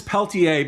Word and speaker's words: Peltier: is adding up uh Leonard is is Peltier or is it Peltier I believe it's Peltier because the silent R is for righteousness you don't pronounce it because he has none um but anyway got